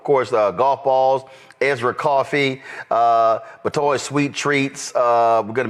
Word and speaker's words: Batoy: Just pronounce that for us. Batoy. Batoy.